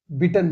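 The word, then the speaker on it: bitten: बाइट बिट बिटन बाइटन नहीं पढ़ना है इसको।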